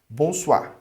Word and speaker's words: bonsoir: E o O com I fica wa, bonsoir, beleza?